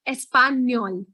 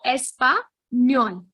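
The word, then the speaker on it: español: language so yeah um spanish in spanish is called espanyol n with a wave is an extra alphabet that you'll find in spanish language so it is espa nyon i'll break it up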